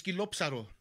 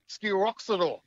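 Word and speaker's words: σκυλόψαρο: Skilopsaro. Oh, Skilopsaro. Yeah. Skilopsaro. Skilopsaro. Okay, Skilopsaro.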